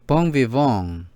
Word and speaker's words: bon vivant: Pronounced something like bon vivant. 이것은 인생을 즐기는 사람이라는 뜻인데 발음이 bon vivant입니다. The NG, a muted nasal sound similar to the NG in sing.